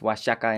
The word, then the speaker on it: Oaxaca: big change i know oaxaca uh from washington used to be pronounced washaka in spanish but then the sound changed into ha like mexico changed to